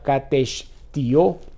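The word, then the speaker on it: κατεσθίω: Y usa un vocablo también griego que se pronuncia katestio, que significa comer, consumir, devorar, destruir completamente, extensión figurativa de la destrucción total.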